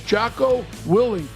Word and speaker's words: Jocko Willink: His name is Jaco Willing. Is that how you pronounce it?